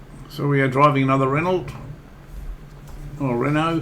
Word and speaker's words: Renault: So we are driving another Renault. Or Renault, how you pronounce it. We call it Renaults over here, even though it's spelt with a T on the end.